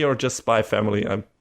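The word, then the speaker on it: Spy × Family: Still not sure if it's called Spy Cross Family or just Spy Family. I'm not sure. Sometimes the X can be read different ways in Japanese. So apparently it is indeed pronounced Spy Family.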